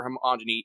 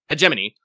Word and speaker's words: hegemony: it, I would have had a much stronger homogyny in there. there. And as we talked about the um hegemani um is homogyny homogyny hegemoni hegemony pronounce hegemony the hegemony um will make and the thing